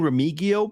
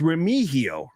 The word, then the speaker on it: Remigio: It's Remigio. Remigio is how you pronounce it.